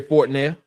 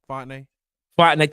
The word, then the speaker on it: Fontenay: Shout out to Terry Fortnell, GM at for the Atlanta Falcons. I know I'm saying his last name wrong, but Terry Fortnell. Fontenay.